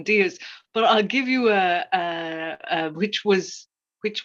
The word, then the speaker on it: Diaz: So I've been reading Trust by Hernan Diaz, but I'll give you which won the Pulitzer last year.